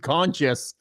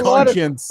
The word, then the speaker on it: conscience: He's saying defensive conscious. No, it's conscience.